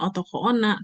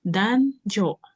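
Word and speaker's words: 男女: Nah, kalau otoko sama ona ini dibacanya adalah bukan otoko ona tapi dan jo gitu ya. Kita ee bukan bukan ee jadi kita baca onominya dua-duanya onyomi gitu ya. Ini otoko itu onominya dan dan ona itu onomina onominya jo. Jadi dan jo.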